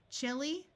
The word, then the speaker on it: chili: Chili, this H will be silent.